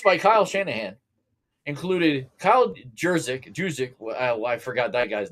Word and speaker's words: Juszczyk: It's Juszczyk. The J is silent.